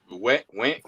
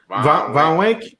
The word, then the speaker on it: Von Wink: Went. How you say it, Daniel? Von Wink. Yeah, Wink. Okay.